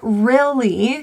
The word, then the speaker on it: really: This Y, however, is an area of difficulty. This is an E sound. If you do struggle, some people will replace that sound with an E. So it can sound like rele. So pull the middle of your tongue to a higher, tighter pronunciation. Really. And feel the middle of your tongue really tense.